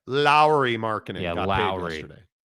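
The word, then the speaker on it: Lauri: um published a story because I mispronounce Lori and I don't say Lowry marinin the proper pronunciation is Lowry marinin it's proper pronunciation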